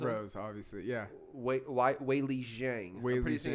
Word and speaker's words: Weili Zhang: Weili Zhang's going to be hard to beat her.